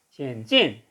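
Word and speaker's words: 险峻: 그래서 발음은 시엔진 이렇게 되고요.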